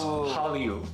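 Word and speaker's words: 한류: So it becomes Hallyu.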